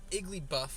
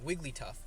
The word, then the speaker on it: Wigglytuff: so I have a feeling clefable and uh igly buff right or no I always I always get his name wrong Wigglytuff I'm sorry about that um Clefairy and Jigglypuff